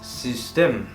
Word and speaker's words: System: Das System. ¿vale? Es un poquito rara esta letra, pero se pronuncia de esta manera.